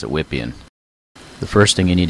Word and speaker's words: Wippien: program is Croatian and I suspect he may have wanted it pronounced Viviane instead of whip Ian's Vivian get it VPN